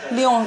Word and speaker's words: Lyon: Lyon's a French team. Lyon. You're supposed to say Lyon.